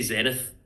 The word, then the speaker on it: Zenith: Um, but I the uh I'll also say we say Zenith. I think Zenith is the American pronunciation, right?